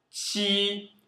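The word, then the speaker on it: 七: Qi. É como falar, por exemplo, tia, minha tia. Mas é um T mais suave, um TI mais suave.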